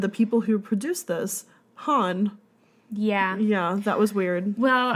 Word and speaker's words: HONNE: I was like, well, I'm not sure, so we looked it up, and it's pronounced Han.